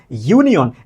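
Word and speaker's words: union: ঠিক তেমনিভাবে আপনি যদি বলেন ইউনিয়ন এইটাও কার মত বলেন? ইউনিয়ন এইরকমের অর্থাৎ শুরুতে যের মত।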